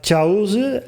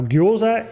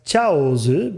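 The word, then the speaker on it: Chaozu: So in katakana, meaning it's a loan word, it's a non-native word, and he wants us to pronounce these characters more towards their Chinese pronunciation, because dumplings also exist in both Chinese and Japanese cuisine.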